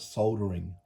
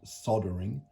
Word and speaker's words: soldering: soldering or soldering station, the word solder has an L in it. And as far as I'm concerned, you should pronounce the L. So I'm going to call it soldering, not soldering, L-ering.